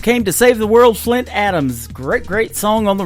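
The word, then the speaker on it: Flynt Adams: His name is Flint Adams. It is spelled a little bit different. It is F L Y N T. And uh Hope came to Save the World, Flint Adams.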